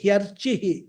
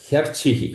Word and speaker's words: ह्यर्चिः: यदा लेलायते ह्यर्चिः. Yeah. He archihi ह्यर्चिः. Hyarchihi. Ha. Yeah, Ha and ya added together.